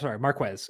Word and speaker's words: Marquez: Marquez. I think that's his preferred pronunciation.